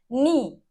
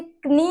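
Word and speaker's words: knee: नी, नाइफ, नॉट, नाउ, तो अब क्या कॉमन है यहाँ पे, के इज साइलेंट हियर, के का साउंड नहीं आ रहा, आप इसे कनी नहीं बोलेंगे, कनाइफ नहीं बोलेंगे, कनॉट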